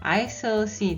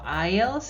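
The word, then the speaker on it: aisle: 창가가 보이는 자리 거죠 여기서 주요할 건 ic 에서서요 S 발음 안 한다는 거요 is se 아니고 아이에요 자 그리고은 동사로 안치다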